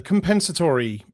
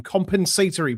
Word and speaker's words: compensatory: Uh I've just seen a tweet come in announcing the uh the compensatory, no that's the American pronunciation, compensatory picks uh for for 2026 ahead of this uh this coming draft.